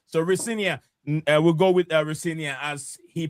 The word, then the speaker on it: Rosenior: Liam Ria he also he said his dad said his right pronunciation of his name is Rinia.